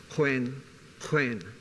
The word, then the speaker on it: Khoekhoen: It would generally in newspapers be spelled Khoekhoen. That's the proper spelling and the pronunciation, and I'll stay with Khoi just for sake of intelligibility, is Khoekhoen. Means eminent people. Chauvinistically, it used to mean men of men.